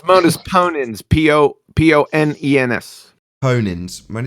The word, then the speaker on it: modus ponens: Trying to do modus polens. How do you say it? Modus polens? Is that right? Modus ponens.